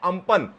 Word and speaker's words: Amphan: यहां पर देखिए कि किस तरीके से मौसम विभाग ने साफ साफ लिखा है अम्पन, और उसको कैसे प्रोनाउंस करेंगे उसके बारे में भी दिया हुआ है अम्पन।